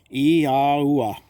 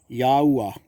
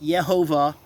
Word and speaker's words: YaH'oooah: YaH'oooah. YaH'oooah. That's the pronunciation of the Almighty's name. Not Yehovah, like some false prophets are teaching. There's no such name, Yehovah, in any part of Scriptures.